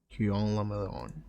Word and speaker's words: Guillaume le Million: Guillaume le Million. I have no idea what this is. If it doesn't rhyme, you're not pronouncing it right. Guillaume le Million.